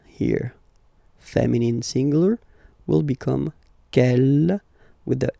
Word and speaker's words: quelle: Okay, quel here, feminine singular, will become quelle with the S, feminine plural. And the good news is that you will pronounce them the same way.